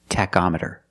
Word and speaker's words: tachometer: with the word tachometer the CH makes a k sound Tech tachometer you check the tachometer to check your RPM